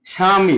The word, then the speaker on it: স্বামী: তো একটু দেখি স্বামী, স্বামী বানানে কি ব শুরুতে আসে না, তো এর উচ্চারণ কি হচ্ছে? স্বামী।